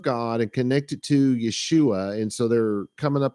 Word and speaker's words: Yeshua: and all that stuff his name was Yeshua that is exactly how it's pronounced how do I know look at the Greek text it spells out Yeshua I may have to